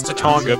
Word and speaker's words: Tatanga: Or Tatanga, however I think it's Tatanga because it's supposed to be Japanese. I think the A's are pronounced as an ah sound.